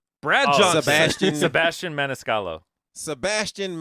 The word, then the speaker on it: Maniscalco: Sebastian Maniscalco. Sebastian Maniscalco.